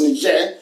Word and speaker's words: Niger: returns the results for niger which is n-i-g-e-r niger is you have an agent is that correct you also have nature republic which is friend french pronounced nigel who knows niger you